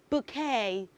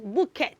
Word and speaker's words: bouquet: of those the right pronunciation of that word is bouquet bouquet all right children say after me say b k b k all right bouet B okay so when you have different flowers beautiful flowers assembled together like the one bride carries on the wedding day that is a bouquet all right so it is not bouet don't say bouquet okay you should rather say bouquet all right let's say